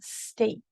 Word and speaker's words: steak: Mom wanted some steak for Mother's Day.